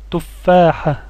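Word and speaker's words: تفاحة: Notez ce signe ici que l'on appelle la shedda, qui redouble la voyelle. On la prononce 2 fois plus fort. Tuffaha.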